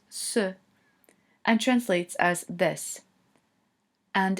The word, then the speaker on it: c': In orange we have C with an apostrophe, which is pronounced ce, and translates as this.